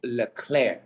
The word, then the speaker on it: Leclerc: to win this weekend that is leclaire not liverpool all right claire like him declared like an eclair it's a lickler okay thank you for